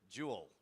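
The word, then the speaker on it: Joule: What do we call the SAP LLM interface? Is it Julle? Jew J. Yeah. So, Jewel.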